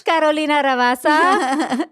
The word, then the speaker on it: Carolina Ravassa: Guys, it's Carolina Ravassa.